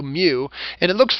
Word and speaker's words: mu: this symbol Mew and it's literally the Greek letter mu it's pronounced m U Mew and it looks like